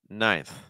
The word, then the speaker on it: ninth: Our next word here, ninth. Ninth. Just like we saw with seventh, this is again with the tip of my tongue against my bottom front tooth.